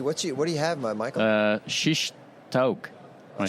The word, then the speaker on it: shish taouk: Shish taouk.